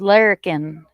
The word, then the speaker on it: larrikin: It's larrikin.